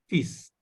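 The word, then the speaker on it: fils: This is as exceptionally, it is pronounced as fees. Fees. Not Fees. L is again silent, but S is pronounced here.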